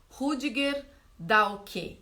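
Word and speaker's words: Rüdiger Dahlke: e tem outros não o rudiger dahlke em português assim que fica o nome dele em alemão deve ser diferente a pronúncia mas é assim que é em português que ele tem vários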